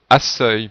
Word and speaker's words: accueil: Si on écrivait comme dans la phrase, la proposition A, la prononciation serait accueil, puisque CEU se prononce ce.